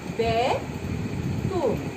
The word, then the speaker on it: বেতন: যেমন বেতন কথাটি, বেতন, এটা উচ্চারণে হয়ে যাবে বেতন। দেখো এখানে মধ্য অ এর পরে এখানেও আছে, তাই এটা উ এর মতো উচ্চারিত হয়ে যাচ্ছে।